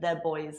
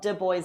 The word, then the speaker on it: D'Boys: can you explain what de boys is to people who uh don't speak Irish English yeah so in Ireland we we do a hard D for de so it's the turns